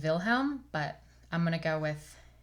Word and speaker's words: Wilhelm: at some point and the German pronunciation of their names I believe is Jakob and Wilhelm but I'm gonna go